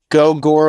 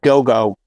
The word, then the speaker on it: Gogol: vibe to them uh I think it's pronounced go go but I it's g-o-g-o-l Bordello and I had a